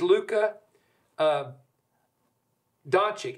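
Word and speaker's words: Luka Dončić: This is Luka Doncic is how they pronounce his name.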